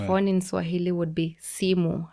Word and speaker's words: simu: A phone in Swahili would be simu. How you write simu is SIMU. And that's a 2-syllable word, simu. And as you just read it as you write it.